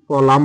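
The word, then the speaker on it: column: এর সাউন্ড হয় না এন কলাম বানান বলেছি তহলে এন এর সাউন্ড হবে না এন এর সাউন্ড যদি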